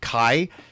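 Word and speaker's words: Cai: So, the AI co-host I used was named Kai, spelled C-A-I, but pronounced K-A-I, like a hard K.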